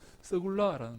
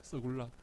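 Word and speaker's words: סגולה: 여러분이 소유란 말이 무슨 말인가 하면요, 이 히브리어로 서굴라라는 말입니다. 서굴라. 한번 따라해 볼까요? 서굴라. 야, 여러분들이 발음이 얼마나 좋은지 모르겠습니다.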